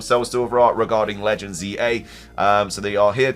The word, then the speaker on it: Z-A: mistaken in the Japanese it should be pronounced out loud as z a so probably in English Z to A again we also we always say Za a out loud but it should probably be Z through and actually the Z